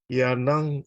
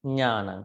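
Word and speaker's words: ñāṇaṃ: Yanang Can you pronounce panya? panya. The same thing. Nyanang. So just take out Yeah. P, PA, then nyanang. Yanang Not yanang. Yeah. Nya, nya, Yeah.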